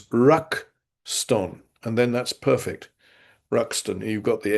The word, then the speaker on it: Ruxton: Well, um, you may know that foreign names get written in katakana, and quite often my name is written Rakusuton, so that becomes Rakuston.